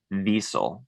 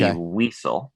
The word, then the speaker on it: Wiesel: called Night by Elie I believe you pronounced his name bezel but Elie Wiesel okay the books called